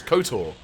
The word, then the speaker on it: KOTOR: in in limey lands we universally referred to the game as kotor that is how we pronounce our eco i'm sure